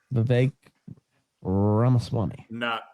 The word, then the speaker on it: Vivek Ramaswamy: Vivek Ramaswamy.